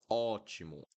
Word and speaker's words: ótimo: Okay, so avó, awesome, avósome, avósome, awesome, ó, right? And then após, após, ótimo, awesome, ótimo, ótimo.